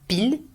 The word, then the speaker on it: pile: you would say 8h pile, that's the like 8 o'clock, 8 sharp. Okay, so il est 8h pile, you do not pronounce the final E, 8h et quart, 8h et demi, and then 9h moins le quart.